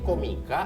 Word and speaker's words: Comika: Karena awalnya kita masih keseringan ini komika atau Atau comika Iya, sih. sebenarnya cara bacanya Komika, tapi gue pengen orang aware cara nulisnya. Makanya gue ngulang-ngulangnya Comika. Gitu. Comika. Suatu hari kita akan bacanya Komika juga.